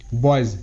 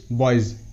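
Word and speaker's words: boys: এরপর ওয়াই এস বর্গীয় জয় হিসেবে উচ্চারিত, মানে ওয়াই এর পর যদি এস থাকে তাহলে এসের উচ্চারণ বর্গীয় জয়ের মতো হয়, যেমন এর ওয়ার্ড টয়েজ, টি ও ওয়াই এস, টয়েজ, টয়েজ। বয়েজ, বি ও ওয়াই এস, বয়েজ, বয়েজ।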